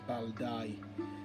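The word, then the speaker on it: Bældæg: Pronounced as Baldi. You got the A and E joints, and then the G represents the Y, and it's pronounced Baldi.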